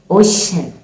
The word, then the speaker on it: ocean: Ocean, ocean. That c and e combination makes the phoneme sh, ocean.